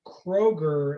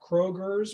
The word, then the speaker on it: Kroger: that I know that the store Kroger is not Krogers because everyone always said Kroger's is one day we were going there and it was night time and the K was burned out so it just said Roger thank you all right